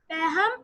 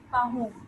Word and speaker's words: Pahom: Paham is a hard-working farmer who is happy with his achievements. Beta, wait, we are going to pronounce it as Pahom.